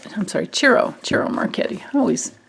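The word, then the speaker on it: Ciro: and i'm using the marchetti tarot on my carol i'm sorry chiro cheryl marchetti i always pronounce mispronounce his first name okay and so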